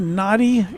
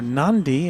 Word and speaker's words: Nadi: It's going to Nadi Airport in Fiji, or Nandi, as I don't know. There's some division as to the correct pronunciation, Nadi or Nandi.